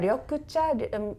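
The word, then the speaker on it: 緑茶: But maybe the ryokucha, green tea helps to digest green things.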